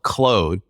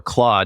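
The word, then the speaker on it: Claude: actually has a product called Cloe or claw depending on how Continental you want to pronounce it but it's a tool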